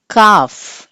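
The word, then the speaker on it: calf: కాఫ్, ఎల్ is silent.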